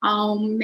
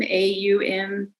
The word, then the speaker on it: Aum: It's the Om symbol, of course, Om or Aum, A-U-M. It's Hindu, Buddhist, Jain, and Sikh. It's another multivalent symbol, meaning it has many different meanings. One is that when pronounced as 3 syllables, Aum, it refers to creation, manifestation, and destruction.